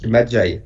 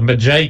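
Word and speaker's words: Medjai: Donc du coup, c'est un des Mwadjai, je sais jamais comment le prononcer, les gardes. Ouais. Madjai, ouais. C'est ça, Madjai qui fait la voix off, qui narre l'histoire en gros.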